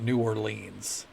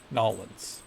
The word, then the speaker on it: New Orleans: Trust newans yeah yeah people don't call it New Orleans it's Nolan Nolin Nolin Nolan it's not New Orleans no yeah Arkansas Arkansas